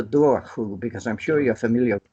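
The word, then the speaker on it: dobhar-chú: he called it the dover who though in parts of Ireland today it's pronounced the door who because I'm sure you're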